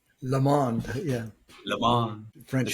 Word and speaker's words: Le Monde: Today, Monde, am I pronouncing that correct? Le Monde, yeah.